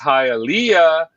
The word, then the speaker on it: Hialeah: His name is pronounced Hialeah, and it's called conch fritters.